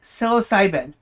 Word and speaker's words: psilocybin: Psilocybin. The P silent. The P in the beginning is silent.